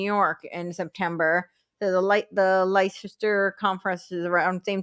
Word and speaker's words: Leicester: I think it's Leicester. They drop all the Leicester.